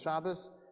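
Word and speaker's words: שבת: Just like Shabbat becomes Shabbos, that's where the word for a bris is.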